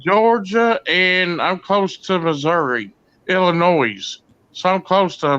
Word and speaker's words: Missouri: Carolina Hillbilly used to say Missouri, and I'd say it ain't Missouri, it's Missouri.